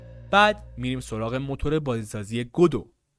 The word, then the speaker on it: Godot: میریم سراغ موتور بازیسازی گودو گدات نوشته میشه ولی اسمش از یه نمایشنامه اومده و تلفظ درستش گدو هستش این موتور بازیسازی برای